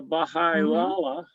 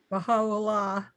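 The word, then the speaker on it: Bahá'u'lláh: This is the Baha'i Lala. Now, some people say that he claims to be, I can't pronounce it. Pronounce it for us? Baha'u'llah.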